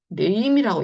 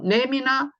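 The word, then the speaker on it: name: 그래서 얘를 네임이라고 읽는 거고요. nem이나 남이 아니라는 거죠.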